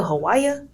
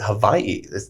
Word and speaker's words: Hawaii: You want to go to Hawaii? So they actually pronounce it Hawaii. The W is not even pronounced.